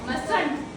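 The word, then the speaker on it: mustn't: Will not का want, might not माइटर्न, मस्ट नॉट मस्टंट। टी है ना साइलेंट होगा। ठीक है, टी प्रोनाउंस नहीं होगा।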